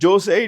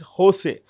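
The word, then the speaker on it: José: In Spanish, the J is pronounced with an H. So it's not Jose, it's Jose.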